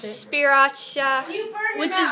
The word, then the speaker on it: Sriracha: don't know what that is, how do you pronounce it? Sriracha.